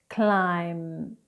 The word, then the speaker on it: climb: Now, when we have M and B together in a word, we do not pronounce the B.